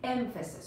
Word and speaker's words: emphasis: emphasis emph asis emphasis I always have a pay attention to the pronunciation which is emphasis if stress is at the beginning of this word and polishing emphasis hope okay emphasis is around you kiss me but mr.